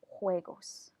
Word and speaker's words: juegos: who want to say juegos and it it's not pronounced like the G in English it is video way goes montar and bicicleta repeated